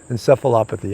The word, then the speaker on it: encephalopathy: cephalophobe it's encephalitis is so encephalopathy that's it encephalopathy i'm not a scientist you could see i had a real tough time pronouncing that word so um that's what that